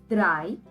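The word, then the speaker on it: drei: so three plus ten three is called as dry then is called as then so dry which is 14.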